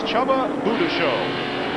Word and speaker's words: Csaba Bujdoso: But this man's name is, you would think, almost unpronounceable. It is Csaba Bujdoso, leading the race in American sedan ahead of